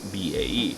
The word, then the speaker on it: BAe: of british aerospace or bae or bay as i sometimes pronounce it at this point